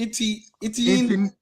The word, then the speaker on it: Etienne: Etienne Jr.